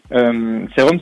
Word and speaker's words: C-ROM: Serum, c'est le mélange entre le CD-ROM, qui représente la musique en fait, et le sérum, donc S-E-R-U-M, parce que sérum, ça s'écrit C-R-O-M, donc c'est pour ça.